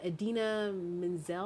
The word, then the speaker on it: Idina Menzel: Idina Menzel, I think is how you say her name.